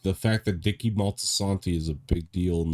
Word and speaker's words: Moltisanti: Dicky, however you pronounce his last name, I forget. Dicky Dicky Montesani. Moltisanti, yeah.